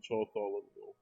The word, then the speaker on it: Bartholomew: The LA is silent in Bartholomew.